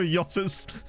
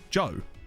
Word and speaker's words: Jota: Pronunciation is not like Jota. It's Joe. Oh, okay. Fair enough. I'll call him Joe. I didn't realise that. Sorry. I thought it was pronounced Jota, not Joe.